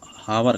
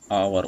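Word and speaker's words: hour: ऐसे ही फ्रेंड जो ये है ना, बहुत से लोग हावर कहते हैं, डेट इज़ रॉन्ग प्रोनाउंसिएशन। ये जो इसका प्रोनाउंसिएशन फ्रेंड्स क्या होगा, आवर होगा।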